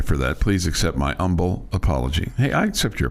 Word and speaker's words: Humble: The H is silent.